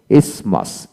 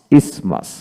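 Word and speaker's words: isthmus: এজমাটিক এজমাটিক এজমাটিকালি তারপরে ইসমাস ইসমাস এখানে আই এস এম ইউ এস ইসমাস টি এইচ উচ্চারিত হবে না এখন আসেন কিছু ব্যতিক্রম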